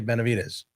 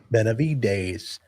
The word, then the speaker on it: Benavidez: Benavidez. I don't say it like that. I say Benavidez. Vez, not A's. No, I say Dez. Like Des Bryant.